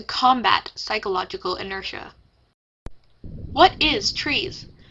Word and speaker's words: TRIZ: What is TRIZ? Pronounced TRIZ but also TRIZ as in fizz by some Russians.